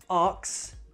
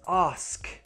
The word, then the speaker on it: ask: This one is very often mispronounced. Not ox, it's ask.